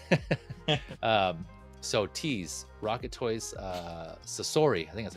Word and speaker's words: Sasori: So tease Rocket Toys Sasori. I think that's how you say his name, right? I can't remember. Correct. Sasori or Sasori? Yeah. Sasori.